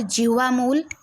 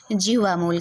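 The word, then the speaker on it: जिह्वामूलीय: तो इनको क्या कहेंगे, जिह्वा मूल कहेंगे, ठीक। तो इनको आप लोग ध्यान रखेंगे। और इसका उच्चारण आधे विसर्ग जैसा होता है या 4 के अक्षर के पहले आता है।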